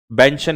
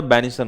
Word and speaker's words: benison: तो बैनिशन नहीं अरे इसमें स्पेलिंग गलत है भाई, बेंशन नहीं होता, बैनिशन होता है वो, BENISON, ठीक है।